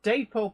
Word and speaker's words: Dapol: Marcus Muggins says, is dapole pronounced dapole or dap as in apple, pole? Apparently both pronunciations are okay, but it was originally a contraction of David and Polly Boyle, I think it was. Which is why I say the answer is dapole.